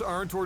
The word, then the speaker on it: Arntor: Is that how you pronounce it? Arntor, yes.